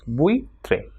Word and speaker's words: buitre: and I come together, it will be pronounced as ui. For example, buitre. So buitre will be pronounced as buitre. And you pay attention that the syllable is formed when these two vowels come together. So buitre, two syllables over there.